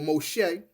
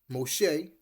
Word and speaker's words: Moshe: That is she named him Moses or Moshe, which is the perceived Hebrew pronunciation Moshe, meaning I drew him out of water.